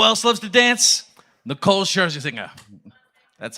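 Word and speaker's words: Scherzinger: Nicole Sherzy singer.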